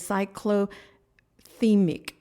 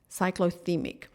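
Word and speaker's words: cyclothymic: I actually had to look up how to pronounce it it is cycl theic cyc theic um it um and what that means is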